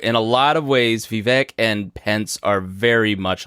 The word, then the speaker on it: Vivek: Am I saying Vivek like Vivek? Cake. Vivek. Okay, excuse me.